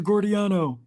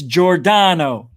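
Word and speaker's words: Giordano: hut right here chief mr gordiano it's jordano can you imagine going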